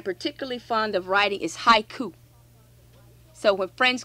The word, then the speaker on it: haiku: 575 japanese syllables but haiku the word haiku in America is two syllables in Japanese is three so the so 575